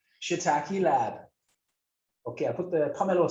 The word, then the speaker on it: larb: How do you say lab, Tara? Lab. Lab. It's kind of a lab with a silent R.